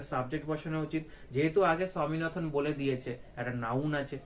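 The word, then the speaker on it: Swaminathan: ছেলে সম্পর্কে কলড স্বামীনাথন প্রোনাউন্সিয়েশনটা হবে স্বামীনাথন স্বামীনাথন নয় কিন্তু ঠিক আছে স্বামীনাথন তাহলে এই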